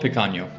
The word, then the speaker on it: Pecaño: They might get a T-shirt, or they might get a coaster with the Pecaño logo on it, or they might get a